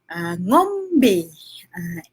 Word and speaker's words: ngombe: Kalau minum sahaja, ngombe. Ngomby. Cik nak bunyi sedap. Nak ejaan sedap sikit tak? Jadi korang senang nak guna. Ngombe. Ngombe. B-E-Y pun boleh lah.